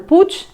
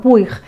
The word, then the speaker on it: Puig: protagonistas de Manuel puig Bueno puig yo creo que los argentinos lo pronunciáis pues no no a la catalana sino españolizado pues Manuel puig tiene que